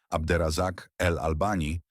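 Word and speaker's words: Abderrazak El Albani: W 2010 roku badacz Abder Razak El Albani, wymawiane Abder Razak El Alban zaszokował świat.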